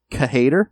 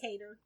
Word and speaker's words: K-Hater: Then she is attacked by a swordsman called K-Hater. I think it's just Cater. It's K-Hater. Yep, that's how it's spelled.